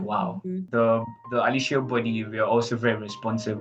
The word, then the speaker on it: Aliseo: Now you're Aliseo. making me say it like you. Okay, Italians so pronounce every vowel.